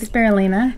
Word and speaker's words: spirulina: Spirulina.